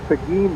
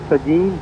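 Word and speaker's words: Seguin: The city is Pagin that's spelled S E G U I N Pagin, Texas.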